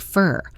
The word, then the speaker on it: for: The word for is unstressed, so it sounds like fur.